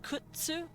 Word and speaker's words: kudzu: I believe kudzu is a Japanese word, but it's technically pronounced ksu. Kzu, but that's a little harder to say. It's kudzu. Kudzu. But the Z is technically a T. It just comes out kind of Z.